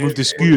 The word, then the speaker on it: Montesquieu: Montesquieu. Correcto. Te has dicho con la boca chica de francés, ¿eh? Montesquieu. Sí. Montesquieu. Pero lo ha dicho así porque hay que pronunciarlo así.